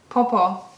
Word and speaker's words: Po-Po: But how do you say it? Popo? Popo. Because it's different in Mandarin, isn't it? Popo. Popo. Popo. Yeah. Because that's the Cantonese. Yeah, it's the Cantonese.